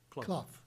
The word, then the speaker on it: Clough: Did I pronounce that right? Clough? Clough.